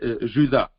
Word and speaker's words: Jude: Jude ou Judas? Ça se prononce aussi Judas. Alors, Jude ou Judas, sûrement ce